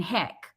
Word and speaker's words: HEIC: HEC Okay.